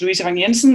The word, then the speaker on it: Louise Vang Jensen: really really appreciate it um my name is luisa vanyensen as you pronounced very very properly marcus i am an